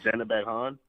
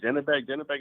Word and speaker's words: Zhanibek: I think I'm saying his name wrong, but the Kazakh. Oh, Zhanibek Han? There we go. Yeah, Zhanibek is cool.